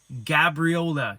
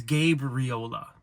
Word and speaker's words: Gabriola: got my chewed out when I said Gabriola it's gab Rola oh why' you say